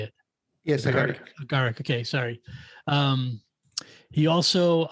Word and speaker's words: Agaric: Yes, Agaric.